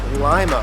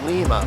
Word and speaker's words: Lima: town is correctly pronounced Lima Ohio not Lima like the city in Peru my home state of